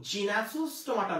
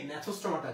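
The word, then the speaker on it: Gnathostomata: এটার উচ্চারণ কিন্তু জিনাসোস্টোমাটা না, উচ্চারণ কি ন্যাথোস্টোমাটা, জি এটা অ্যাবসেন্ট থাকবে। আচ্ছা, আমরা চলে আসি ইউরো কর্ডাটার ক্ষেত্রে।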